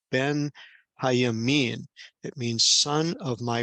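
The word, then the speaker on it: בנימין: You'll see as I'm circling this Hebrew in with my cursor here that Benjamin is really a compound word that is pronounced Ben, Hayamin.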